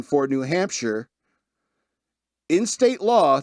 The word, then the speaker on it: Hampshire: an official pronunciation for New Hampshire in state law to make it clear that shire rhymes with fur and not fire. They don't want you to say New Hampshire.